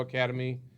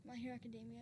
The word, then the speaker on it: Academia: wanted to visit was my hero academy universe is that right academia it's just academia see i'm not even saying it right and what is that